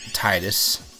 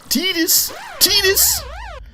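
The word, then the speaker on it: Tidus: and whatnot even when Titus I will never pronounce it the other way doesn't ask okay sorry I don't mean to get all serious but tedious just such a silly pronunciation um I don't know maybe T this makes sense to other languages it's just I don't know it sounds very much like Cletus I don't know how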